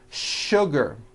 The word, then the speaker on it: sugar: words in English that are written with the letter S but are pronounced with the SH sound words like sugar and sure and to